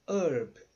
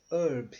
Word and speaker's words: herb: a alguém isso aqui significa herdeiro também não pronunciamos o h então ficou um herdeiro que nem eu sou um herdeiro e herb herb no sentido de ervas tá um gusto de